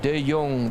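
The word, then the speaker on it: De Jong: The Yong, that's how we pronounce it in Dutch. The Yong means the young.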